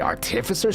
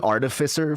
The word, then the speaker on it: artificer: By the way, artificer, stupid pronunciation for that word, but apparently it's the correct one. I've been saying artificer for, like, so long. Allegedly, artificer is the correct like, emphasis on the right syllable, but whatever, it doesn't really matter to me.